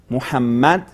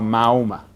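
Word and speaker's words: محمد: del Islam, que es Muhammad, y en la pronunciación en español lo han, podemos decir, deformado a Mahoma, y que no suene tan lindo.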